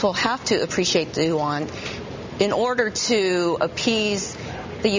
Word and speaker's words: yuan: And I should say, I'm glad that I've actually learned how to finally pronounce the Chinese currency. It's yuan. We've been talking yuan for all these years.